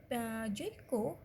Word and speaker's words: Joyco: Tapi ketika diucapkan Joyko milik PT Tongshen IND ini pengucapannya tetap sama Joyko, hanya pada tulisannya saja yang huruf C.